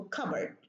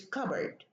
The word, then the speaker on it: cupboard: one sound is deleted, like cupboard. We talked about this in the assimilation lesson. And I said that the pa and the ba, pa changes into ba, but because we have two B's, we delete one. So cupboard, it's not cupboard, it's cupboard. And here, two words, back and ground.